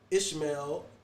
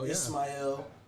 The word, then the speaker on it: Ismail: took his name he took uh ishmael took the arabic pronunciation ismail and now you have